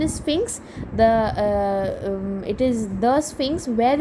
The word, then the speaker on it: Sphinx: The pronunciation is Sphinx.